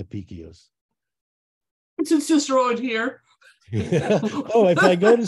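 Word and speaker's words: Apicius: another pronunciation oh well in Italian you know Italians pronounce Latin as if it's Italian because it is it's an old Italian so uh they say apica so I don't know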